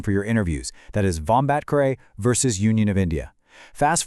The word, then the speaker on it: Vombatkare: Make sure you've got the pronunciation down for your interviews. That is Vombatkare versus Union of India.